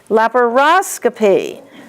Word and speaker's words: laparoscopy: S-C-O-P-Y, the accent is going to be on O-S. Peritonioscopy, laparoscopy, bronchoscopy.